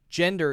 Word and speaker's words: gender: and genre in pronunciation I assume gender is a J sound judge judge judge judge